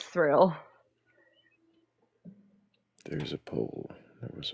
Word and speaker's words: Thrayle: So, we're being goofy and it's thrill. It is thrill.